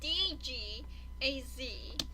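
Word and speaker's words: Dagaz: hard it's this one it's deg AZ the top spelled phonetically d aah gah z so we'll be dining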